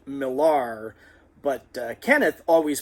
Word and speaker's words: Millar: Now, she pronounced her last name, her married name, the way it was spelled, Millar, but Kenneth always pronounced it Miller.